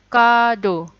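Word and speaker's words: カード: Card jadinya kado. Kado. Kemudian capture jadinya kyaputa. Kyaputa.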